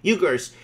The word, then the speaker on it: Uyghurs: How do you pronounce these guys? Uyghurs.